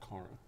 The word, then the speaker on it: Cara: i pronouncing her name cara cara cara you don't want have sex with each other no no and and just recently she said to me you know my name is pronounced Corran how was that conversation